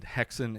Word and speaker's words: Häxan: Häxan is, I forget what language it is, but it's interesting that witches put hexes on people, and Häxan is how you pronounce the title of this movie.